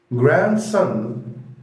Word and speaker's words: grandson: grandson grandson نفس الحكاية برضو دي ما نطقتهاش، بقول grandson grandson يعني حفيدي.